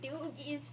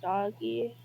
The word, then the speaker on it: Doogie: Oh my god, look at Doogie's face, bro. He's He's such a Chad. Isn't it pronounced doggy? No, it's Doogie.